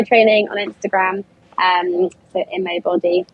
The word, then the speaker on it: Boddy: on Instagram um Soo body I IMO b d y everyone gets my name wrong I think it's B Y like the human body but it's double D um but yeah I